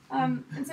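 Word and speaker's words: Sō: do you spell that s 0 with a line over the oh so as you know it's a long oh how it's pronounced the percussion has in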